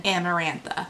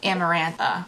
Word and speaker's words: Amarantha: self-proclaimed queen of parthian amarantha amarantha you know amaranth that grain that we used to eat when we were vegan like that but with an A on the end so I just think